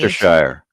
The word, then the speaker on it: Leicestershire: And Gavin Blackburn is assisting us in our pronunciation. Leicestershire.